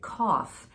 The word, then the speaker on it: cough: speaker to remember that we have odd uses of GH also like cough and a which neither of which have a g sound I know right through